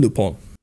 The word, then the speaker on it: Lupin: her japanese friend here has its name pronounced as arsene lupon uh you know i guess you'd equate this to the polish french composer frederick chopin with that like strong nasal end sound at the end i can't really i'm